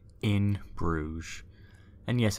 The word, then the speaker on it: Bruges: Coming in at number 1, In Bruges. And yes, it's pronounced Bruges, by the way, if you didn't know.